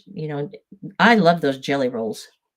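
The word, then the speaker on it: Gelly Roll: And if it's new to you and you haven't heard of jelly rolls before, it is spelled with a G. Is that under the camera? Backwards probably. G E L L Y. Roll. Jelly roll.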